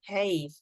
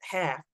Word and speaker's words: half: So we don't say have. It's not have, but half, half.